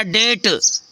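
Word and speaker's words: debt: mean संदेह होता है जैसे डीई बीटी यहां बी साइलेंट हो गया डेट डेट मींस क्या होता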